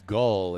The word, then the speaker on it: Gall: Okay, number 10 is Gall, is how that's pronounced.